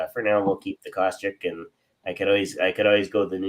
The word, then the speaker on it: Kostiuk: Jim always thought there was an A in there, and you always used to say Kostiuk, but it's Kostiuk.